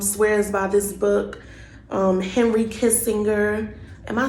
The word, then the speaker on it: Kissinger: Henry Kissinger, am I saying it right? Kissinger, kissing her.